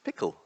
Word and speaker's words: PECL: Um many people pronounce it peckle, but apparently it's pronounced pickle.